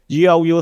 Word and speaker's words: GLU: And another thing that is interesting in terms of pronunciation is that GLU sounds like glue.